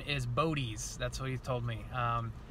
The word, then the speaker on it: Bodez: the video as well but I found the pronunciation is bodis that's what he told me and he's been